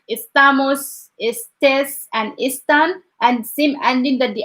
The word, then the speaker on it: está: It's like estoy, estás, esta. So they have that accent. We have to pronounce it like emphasize it. Esta, está, or like estamos, estés, and están, and same ending that they add to the verbs.